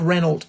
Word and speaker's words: Renault: Yeah, Mary Reynolds. Shocking. It really is Mary Reynold. I was like, of all the people to affect a French pronunciation, I would be the last that anyone would um expect.